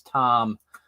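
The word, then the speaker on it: Thom: charge his name is Tom um spelled t-h-o-m uh so you know for for a while I was calling them fam but apparently the H is silent yeah you uh Frosty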